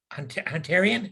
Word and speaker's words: Hunterian: Shapiro is the recipient of the Hunterian, is that how you say it, Doctor? You got it. Hunterian Medal from the Royal College of Surgeons of